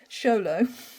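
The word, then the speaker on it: Xolo: people were buried with a Zolo pron oh pronounced sholo made of obsidian or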